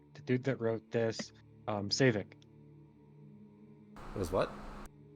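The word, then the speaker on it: Saevik: Right, the dude that wrote this, Savik. It was what? Savik. Savin? Savik. Savik? Yeah, S-A-E-V Vic. Savik.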